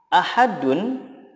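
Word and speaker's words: أحد: Contoh, ahadun jika diwakafkan menjadi ahad. Ahadun jika diwakaf menjadi ahad. Ada tambahan qalqalahnya karena dal disukunkan menjadi qalqalah.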